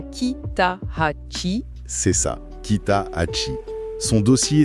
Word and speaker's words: Kitahachi: Et c'est Kitachi qu'on prononce bien Kitachi.